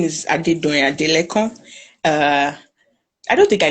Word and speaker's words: Adedoyin Adelekan: Okay, so your name is Adedoyin Adelekan. Did I pronounce it well?